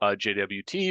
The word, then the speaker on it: JWT: already mentioned, and also how JWT or JOT, if you prefer, is impacting AI breaches and incidents as well.